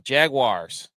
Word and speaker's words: Jaguars: Jaguars. Say it like that. Wars, not wires.